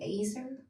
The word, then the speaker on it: Azer: Where could I find information about the Acer? Acer? Is that how you say it? Yeah, Azer.